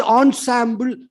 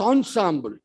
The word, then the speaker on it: ensemble: among the characters that is called Ensemble acting e and s e m b l e but pronounced as Ensemble you see giving in